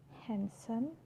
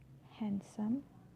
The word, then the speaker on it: handsome: For example, Wednesday, handsome, sandwich. Wednesday, handsome, sandwich. So I'm not pronouncing the D, I'm just pronouncing the N consonant sound.